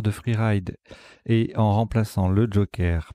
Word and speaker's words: freeride: Freeride, voilà, je prononce à la française parce que sinon on ne sait pas qu'il y a des R.